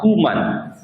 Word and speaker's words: Koeman: Dulu bahasa Belanda itu sampai hari ini, dulu kita pakai ejaan gaya Belanda. Belanda sampai hari ini itu masih menggunakan konsep bahwa OE itu dibaca U. Ada satu pelatih bola namanya Ronald Koeman.